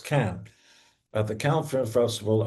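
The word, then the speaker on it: Cannes: Renia and I met at the Can Film Festival, and that's the way you pronounce it, by the way. Americans think they're doing it con. No, it's not. It's Can at the Can Film Festival uh oh, over three years ago.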